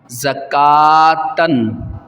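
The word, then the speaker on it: زكوٰةً: کے بتا دیتا ہوں، واو کو نہیں پڑھیں گے، زا زبر زا، کاف کھڑا زبر کا، زکا، تا دو زبر تن، زکاتن، رسولن، را موٹا کریں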